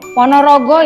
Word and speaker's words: Ponorogo: berasal dari Jawa Timur Ponorogo ya bukan Bogor ono sing kebalik bacanya itu Ponorogo ya itu nama kota